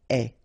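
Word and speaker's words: ait: and avoir will become est, remember the final E is not pronounced, so you only have this AI sound, est, okay, est, ayons, ayez,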